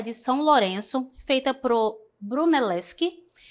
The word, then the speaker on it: Brunelleschi: Tenho o primeiro aqui, deixa eu só confirmar aqui a pronúncia dele, tá? É Brunelleschi.